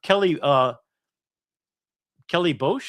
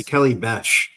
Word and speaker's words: Kelly Besh: I thought of Kelly Bosch. Is that how you pronounce her name? She corrected us on the station the other day. Yeah, it's Kelly Besh.